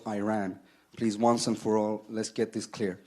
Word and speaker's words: Iran: over his pronunciation of Iran say you support the Iranian people but you're pronouncing our country's name wrong a country is named Iran not Iran please once and for